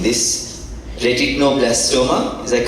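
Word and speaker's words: retinoblastoma: diagnostic tool for please help me doctor in pronouncing this retino blastoma is that correct yes retino blastoma Sri Lanka overcoming significant logistical challenges he also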